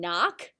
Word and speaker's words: knock: arrow for that one the word not has a silent k in front of it you probably know a lot of words with the same spelling pattern like knee and knock what else can you